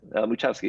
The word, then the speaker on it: Muchowski: That's Muchowski, yes, that's right.